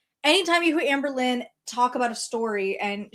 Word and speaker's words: Amberlynn: Again, only Amberlynn says like puts the emphasis on Amber and then like a little bit uh Amberlynn. Amberlynn. Like that's the way she says her own name.